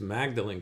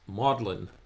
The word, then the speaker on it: Magdalen: been incorrectly pronouncing as Magdalene College uh that's how it's spelled but apparently it's pronounced modlin college so he's attempting to